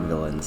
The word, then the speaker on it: villeins: villains villains sorry yeah it is pronounced just like villains I looked it up